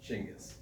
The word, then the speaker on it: Chinggis: Genghis is the English translation of the Mongolian Chingis. It's phonetically pronounced Chingis.